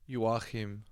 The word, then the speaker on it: Joachim: Jans, how do you say Joachim in German? What? Joachim. Joachim.